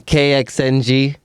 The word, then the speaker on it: KXNG: I say um kxng. Okay. And I say start with that and then King Solomon, but I say kxng um x's and all the vowels.